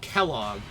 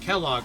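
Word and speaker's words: Quelaag: And he always pronounced the name Kellogg. Just like, you know, Kellogg's, the cereal company. Or I guess also like the guy from Fallout 4. But like, looking at the name, it's because it's spelled like Queelagg or something like that. I'm like, that doesn't look like Kellogg to me.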